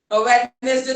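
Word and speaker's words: Wednesday: बाकी सब में भी वेडनेसडे तो कोई बोलते वेडनेसडे, तो डी प्रोनाउंस करना ही नहीं आपको।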